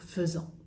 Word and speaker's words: faisant: Donc faisant. Souviens-toi, hay que tener cuidado con el verbo faire, que es una excepción de pronunciación, que escribo AI, pero digo feu y no fait.